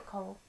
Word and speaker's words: Corel: Then the following weekend we have the Intro to ScanNCut and Corel Draw. Or Coral, depending, whichever way you want to pronounce it.